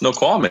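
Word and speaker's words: Snoqualmie: like an Indian word SN o qu al M ie say again it's know call me arrogant is that it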